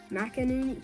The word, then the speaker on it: McInerney: Oscar McInerney. Mackin. How do you say it? McInerney.